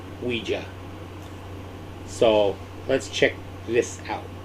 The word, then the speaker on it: Ouija: yeah i found out it's pronounced ouija not ouiji ouija so let's check this